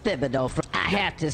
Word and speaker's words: Thibodeau: If it's actually said with the TH, then I'm calling him Thomas Thibodeau.